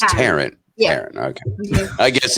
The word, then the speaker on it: Taryn: Taryn, Taryn, how would you actually pronounce it? It's Taryn.